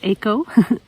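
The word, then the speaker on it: Éco: park park eco actually i think i've been pronouncing it eco but it's aco park echo laurentide um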